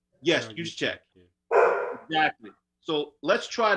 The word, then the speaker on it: Juszczyk: San Francisco had in Kyle, I can't even pronounce his name. Juszczyk. Yes, Juszczyk.